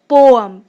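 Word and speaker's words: poem: जी हाँ, पोएम नहीं होता, इसकी प्रोनाउंसिएशन होती है पोअम।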